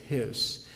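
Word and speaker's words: Heß: the name rudolph his it's an um lao over that you know it's pronounced his not rudolf hess rudolf hess you all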